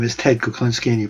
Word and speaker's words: Kuklinski: well as you said my name is ted kuclinski and you pronounced it right so i'm so happy but